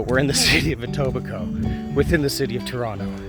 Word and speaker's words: Etobicoke: So, just to talk about where we've been walking, uh, the West Humber Recreational Trail goes through Atobbico. Now, Tobico is spelled a little weird.